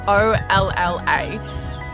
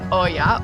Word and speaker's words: olla: Spelled O-L-L-A, the Spanish word is pronounced olla or olla.